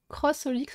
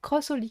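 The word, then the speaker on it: xxxHOLiC: Crossolix, on prononce. Ah. Ouais, ça me fait bizarre de dire ça, mais c'était parce que j'ai l'habitude de dire XXX, mais c'est en même temps, c'est bizarre. Crossolix, faudrait vraiment que je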